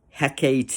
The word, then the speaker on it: Hecate: Hecate is, I think, how you pronounce it.